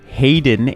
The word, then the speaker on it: Hayden: what is going on youtube hayden h-a-y-d-e-n back with another brand new crypto tv